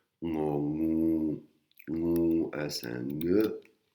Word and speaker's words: งู: Et un nœud un petit peu dur à prononcer, il faut un petit peu s'entraîner. Il faut garder la langue collée au palais. Et c'est quand on décolle la langue du palais que le son nœud sort.